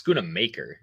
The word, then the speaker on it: Schoonmaker: Can you pronounce Schoonmaker for us? Can we get an appropriate? It's Schoonmaker.